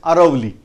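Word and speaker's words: Aravalli: times from Indian language, if D is there, sound of D, then it is written as sound of R, so they are pronouncing as Aravali.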